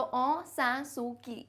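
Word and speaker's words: Aung San Suu Kyi: ओंग, देखो ऐसे बोलते हैं इसको, ग जैसे साउंड मत करना, ओंग मत कहना, है ना.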